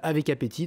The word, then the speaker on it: Avekapeti: Avec appétit, je me pince là avant de prononcer ce nom à plusieurs syllabes, avec appétit, donc A-V-E-K-A-P-E-T-I, je n'ai pas dit de bêtises.